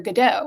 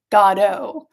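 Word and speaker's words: Godot: And then I read that Ian Mckllen said that Samuel Beckett insisted that it be pronounced with the emphasis on God. Godo.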